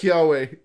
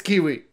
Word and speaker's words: Kiawe: We know it's pronounced Kiawe, or whatever. It's Kiwi.